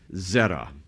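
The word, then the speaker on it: זרע: It's zera. Zera. We'd say it, we would spell it in English as ze r a.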